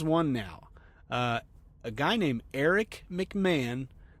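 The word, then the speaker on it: Erich: A guy named Eric McMahon, that's spelled with a CH, so E-R-I-C-H, McMahon, not McCann.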